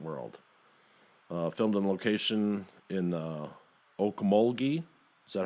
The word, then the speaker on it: Okmulgee: Filmed on location in Okmulgee, is that how you say it?